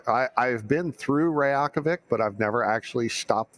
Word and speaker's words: Reykjavik: Reykjavik. Good news. Yeah. Matterall is not the worst pronouncer.